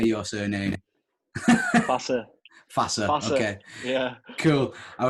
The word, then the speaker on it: Fasa: Fasa.